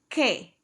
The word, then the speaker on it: que: The Q and the K are both pronounced like a K.